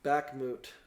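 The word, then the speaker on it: Bakhmut: big war going on right now in uh back moot I wouldn't pronounce it wrong but I think it's b-a-h-k-m-u-t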